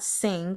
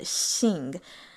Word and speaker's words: Xing: So it's going to be more like a SH, not sing, but Xing, kind of, sort of.